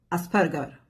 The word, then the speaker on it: Asperger: Se você colocar no Google como se pronuncia Asperger, ele vai falar Asperger, porque é o nome austríaco, né?